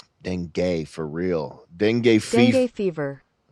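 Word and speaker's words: dengue: How do you type in how to pronounce denge? You can get severe denge. It's like deni deni for real.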